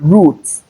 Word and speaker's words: root: Take note of this last word, root, and not route. Many people pronounce this as route. R-O-U-T-E is root and not route. All right, that's because we have the U sound in between, not the ow sound.